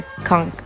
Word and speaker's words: conch: I always thought they're conch shells, but apparently they're conch shells.